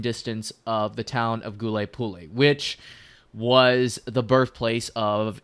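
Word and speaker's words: Huliaipole: First of all, we are going to talk about a rapidly developing situation and that is of course the Goule Pulle front or Gouleopole as I incorrectly pronounced in many videos I made in the past.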